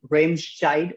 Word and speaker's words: Remscheid: So like I know you are born in Remscheid, if I could pronounce it right. Yeah, so Remscheid, like, yeah.